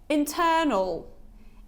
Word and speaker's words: internal: you see it so this sound is quite gentle it's quite relaxed so I like saying it's not L it's not L it's not o it's something in between it's a bit silent so it's oh oh so it's very short as you can see